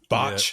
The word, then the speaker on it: Bach: is that how you say his name Nick Bach yeah yeah cuz he's the king B yeah